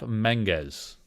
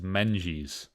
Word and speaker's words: Menges: No, it's pronounced Jeff Menges. That's how it's pronounced. I know there's a guy out there that says Menges and claims to be a friend of Jeff.